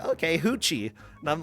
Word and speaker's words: Ruth: But I did learn that the name Ruth, pronounced in Portuguese, is Hoochie.